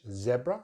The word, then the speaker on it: zebra: So British English, zebra, short vowel sound. American English, they use that long vowel sound, E, zebra. We use the short one in British English, zebra, zebra, stress on the first syllable.